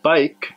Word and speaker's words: bike: word from the sentence when you pronounce the word bike the sound that you were making it's the sound of the letter V now the correct sound should be but listen carefully and